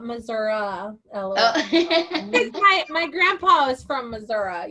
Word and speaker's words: Missouri: Marianne says she lives in Missouri, not Missouri.